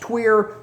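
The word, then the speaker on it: tuyère: It is pronounced tweer, not French or not queer iron.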